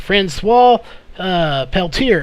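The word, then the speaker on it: François Peltier: The correct pronunciation of that name is Francois Peltier is actually how you say the name.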